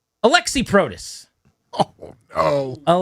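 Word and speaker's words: Aliaksei: Alexi is the hardest thing ever. It should just be a L E Xi or something. A L I A K S E I Alexi Ali.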